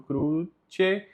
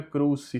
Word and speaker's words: cruce: O C com E aqui no cruce não fica cruci, fica cruce. Porque quando o C vem junto com o E, tem som de che.